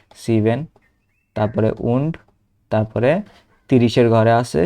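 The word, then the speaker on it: und: জিবেন এই যে জিবেন হুন্ডার যেহেতু সাচর ঘরে আছে তারপরে নয়ন এই যে এই নয়টা উচ্চারণ করব এন্ড sorry উন্ড Nayan cis এইযে তারপরে 908 যদি উচ্চারণ করি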